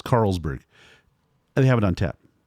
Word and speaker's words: Carlsberg: They now have one of Carlsberg, or as I've heard, Jarlsberg. Is that how you pronounce this? That's what I understood, but now that I don't know. I've heard the name that way, but it's Carlsberg.